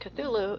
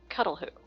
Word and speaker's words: Cthulhu: In case you're wondering, it is not pronounced Cthulhu. It is pronounced cuddleh who as in like the cuddlefish.